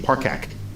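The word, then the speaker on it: Parcak: And we found Sarah Parkak. Sarah, welcome to Star Talk. Thank you. Thank you so much for having me. I'm thrilled to be here. And I pronounced your last name correctly. Hard C, Parkak.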